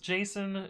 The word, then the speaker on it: JSON: to be non empty Json is pronounced Jason changed my mind hmm